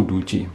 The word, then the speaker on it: Doogee: Kalau anjing itu kan Dogi ya. Kalau ini kan Duji. O2 dan E2. Bacanya itu Duji.